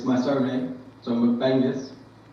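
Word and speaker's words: McBengis: Right, so it's my surname, so McBangus. Not Genghis, McBangus.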